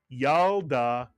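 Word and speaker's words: ילדה: The shva under the lamed is silent. It tells you to simply add the lamed to the preceding vowel and letter, the yud and the patach, to create the first syllable yal, the second syllable da.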